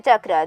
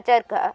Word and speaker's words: charkha: Before we start, this is a chakra, this is a charkha, and it isn't pronounced chakra.